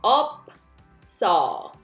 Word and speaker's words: 없어: Notice the double final consonant, 비읍 and 시옷. Only 시옷 sound shift, but 비읍 stays on the first syllable. So 없어.